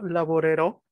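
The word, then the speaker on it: lavorerò: El acento tónico de la palabra en este caso no está en la penúltima sílaba, sino en la última. ¿Cómo quedaría? Yo laborero.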